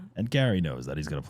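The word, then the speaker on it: Gerry: Jerry Jerry and then he's saying on the show it's pronounced Gary Gary I don't maybe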